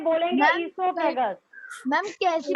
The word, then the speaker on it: esophagus: अब यहाँ वो साइलेंट है, बोलेंगे मैम, esophagus.